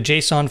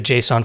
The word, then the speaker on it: JSON: named and promoted the Json format says it's pronounced like the name Jason but somehow Json seems